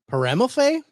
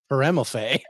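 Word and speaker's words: Peremalfait: It's Paramelphe? Paramelphe? Is that the word you would use for it? P-E-R-E-M-A-L-F-A-I-T. Go away. I think the T is silent.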